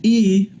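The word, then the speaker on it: Ii: In the center of I, pronounced E, the young man behind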